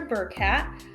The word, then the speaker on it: Burkat: Our guest today is Burkat.